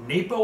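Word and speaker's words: Naipo: This company is by the name N-A-I-P-O, Napo, I believe you pronounce it.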